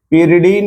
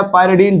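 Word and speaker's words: pyridine: पिरिडीन या पायरिडीन, जो अच्छा लगे आपको। पिरिडीन या पायरिडीन, जो आपको अच्छा इसका प्रोनाउंसिएशन लगे वो बोल सकते हैं।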